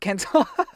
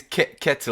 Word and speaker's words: Ketil: Like, would he suddenly become Iron Fist Kentel? Oh yeah. Oh, by the way, I think it's Ketil. I don't think there's an N in there.